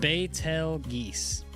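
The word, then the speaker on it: Betelgeuse: I don't know how to say that, but it's pronounced battel geese. Betel geese.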